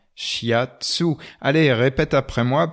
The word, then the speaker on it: shiatsu: français fiat sous voile à la prononciation française tout simplement shiatsu aller et répète après moi petit papillon she hate sous shiatsu shiatsu voix l'a fait